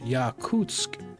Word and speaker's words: Yakutsk: I found it where it's yakoot for the language. Yakutsk for the city.